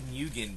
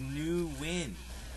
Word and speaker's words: Nguyen: And I was actually just corrected an IRC from Ryota from Amp Gaming, saying that it's pronounced Nguyen, not Nguyen. Alright, so that pretty much clears that one up, as I'm going to take it right back into the action of these here.